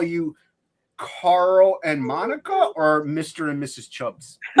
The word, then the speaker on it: Monika: She kept like, and she says it's like, and she was going Monika, and I went Monkey, and I kept calling her Monkey, and eventually she dropped off.